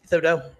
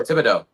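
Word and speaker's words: Thibodeaux: I always forget how to pronounce his last name, but number 5. Thibodeau. Yeah. Oh, Thibodeau.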